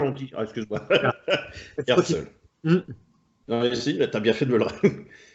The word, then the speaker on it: Herzl: il promeut Theodor Herzl, oui, Herzl. Nous, on prononce comme ça. On dit, excuse-moi. Herzl.